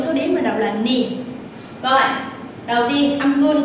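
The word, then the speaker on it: 二: Mình đọc là ni, thường thường trong số đếm mình đọc là ni.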